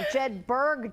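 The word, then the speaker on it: Jedburg: saying Jed buug Junction Jed BG jedberg see I said it wrong jedberg Junction thank you for correcting me um Saturday from 10: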